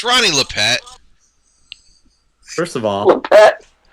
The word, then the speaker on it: Lippett: I had a little bit of grip juice on me when he took Ronnie Lippett right after that.